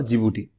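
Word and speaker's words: Djibouti: इसका नाम क्या है डी से स्टार्ट होता है लेकिन प्रोनाउंस जिबूटी करते हैं मतलब डी जे आई जी और बी ओ यूटी आई तो यह जो चार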